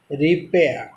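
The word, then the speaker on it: repair: यहाँ पर देखो, रिपेयर, आर को ब्रैकेट में लिखा गया, इट मीन्स आर को उच्चारण नहीं होगा और एयर नहीं होगा, रिपेयर।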